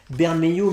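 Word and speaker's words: Bermejo: que sur batman damned je vais me prononcer à la française ben may you mais il se surpasse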